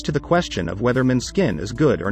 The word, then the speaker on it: Måneskin: out if you enjoy men's skin a Danish band with the pronunciation Monet's skin and to add to